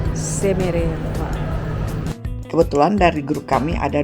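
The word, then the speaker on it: Шереметьево: Namanya Sheremetyevo tulisannya. Bacanya tulisannya Sheremetyevo, bacanya Sheremetyevo.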